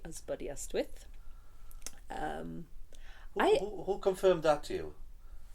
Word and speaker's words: Aberystwyth: But then, yes, I learned that it's supposed to be Isbidiestwyth.